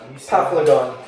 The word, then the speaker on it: Paphlagon: How do you pronounce it? Paphlon. Hold on. Paphlagon.